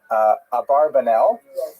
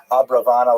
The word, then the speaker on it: Abravanel: Oh, I should mention, by the way, many people pronounce the same Abarbanel, and that's because of the, it's much easier, as Stephen says, it's much easier to rhyme the song to the name Abarbanel, if you know what I'm talking about, right, with Schlock Rock version of Abarbanel, but it's most likely pronounced Abravanel or Abrabanel. So we'll stick with the scholarly norm, although you know who I am talking about.